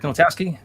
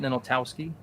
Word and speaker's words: Ninaltowski: The W, that's not how it's actually pronounced in Polish though, right? I've always pronounced it Ninaltowski. Ninaltowski. Oh, right, because in Polish it's probably the L with the slash.